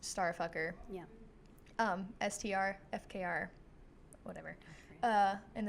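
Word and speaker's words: STRFKR: It's just letters. Yeah, but it's pronounced Starfucker.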